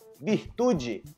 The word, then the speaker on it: virtude: Vi beleza vinho vaca virtude Ok não virtude bir bir não virtude dica no final da pronúncia